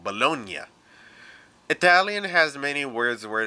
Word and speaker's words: Bologna: GN, the acronym for good night, makes a piñata ng noise, so it's not lasagna, it's lasagna and bologna.